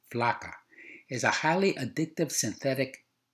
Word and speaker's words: flakka: effect similar to amphetamine flaca is pronounced using the soft a vowel sound as in the Spanish word flaca referring to a thin woman a stimulated metabolism would